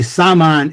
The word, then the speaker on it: saman: The word shaman was originating in Siberia in the Tungus area. And it's actually Saman, S-A-M-A-N, which evolved into shaman.